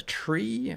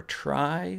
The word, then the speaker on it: trie: And the way that I made it work so quickly involves a data structure called a trie or trie. Sometimes you see it pronounced either way, T-R-I-E.